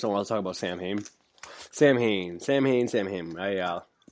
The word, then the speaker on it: Samhain: Made a video talking about Sam Hain a lot. And first of all, I just want to say I know it's not pronounced Sam Hain. I know it's Samhain, but I didn't want to